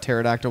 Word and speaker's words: pterodactyl: filling you in and you thought pterodactyl was spelled with the tea yeah I didn't know there is no silent p yet word he looks